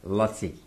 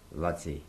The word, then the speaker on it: Laci: Well, actually, the spelling, his name was Lutzi. L-A-C-I, Lutzi.